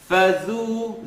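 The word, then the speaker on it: فذو: Dhal is never heavy. So, فَذُو, فَذُو. It's a tip of the tongue, edge of the top teeth. Let me say it right, and then you can hear it not so right. فَذُوقُونَ. Fadhu, dhu, dhu. You hear the oo sound, not the oo.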